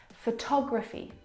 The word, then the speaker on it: photography: look at the second example photography you can hear the pronunciation is different and that's because the second syllable is the stressed syllable in this word photography o tog photography compare